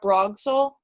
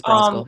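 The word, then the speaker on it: Brosgol: So I mentioned her before, but I think that 2 comic books by Vera Brogskol, or Broskel, I think I pronounced it wrong the first time. It's Broskel, yeah.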